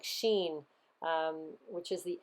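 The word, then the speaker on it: Shin: the serpent biting you the name is pronounced like Sheen which is the S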